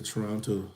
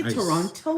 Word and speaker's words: Toronto: So when I got on my flight on the way back to Toronto this afternoon, you say Toronto. You pronounce every syllable.